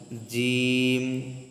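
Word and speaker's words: جيم: প্রথম যে হরফ এই লাইনের, এই হরফটার নাম আমরা জানি জিম জিম জিম জিম। জিহ্বার মধ্যখান উপরের তালুর সাথে লাগিয়ে তিনটা হরফ উচ্চারণ হয়, সেটা হলো জিম শিন ইয়া।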